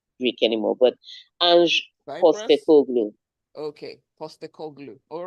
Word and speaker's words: Postecoglou: Postecoglou. Okay, Postecoglou. All right. Ange Just pronounce Postecoglou. as spelled.